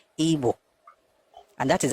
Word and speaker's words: Ibo: you guys are doing it is I B O but the pronunciation is ebo and that is how